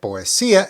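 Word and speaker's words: poesía: simply means of now note that poia has an accent over the letter I now we just learned that a is a strong vow and that I is a weak vow so normally when they're together the emphasis is on the strong vow correcto right however when an accent is present that takes priority and that is where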